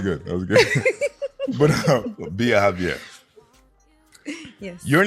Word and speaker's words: Biajavier: I just felt like it was just one long word. Yeah, Biajavier.